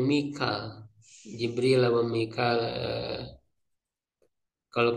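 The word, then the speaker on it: ميكال: menggunakan qiraat apa ya Jadi tidak Mikail tapi Mikal Jibril apa Mikal?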